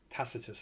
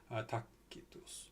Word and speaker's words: Tacitus: Tacitus, I believe they pronounce it, but C's would be pronounced K's. Tacitus.